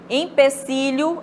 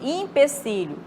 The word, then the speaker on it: empecilho: Empecilho em vez de empecilho. A pronúncia correta é empecilho, com E mesmo, tá? E não como se tivesse um I, né?